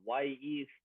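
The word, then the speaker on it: Wy'east: Y East, which is spelled WY''EAST, is the Native American name for Mount Hood.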